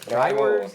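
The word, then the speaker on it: droëwors: Is it Drywors? How do you pronounce it? Drywors.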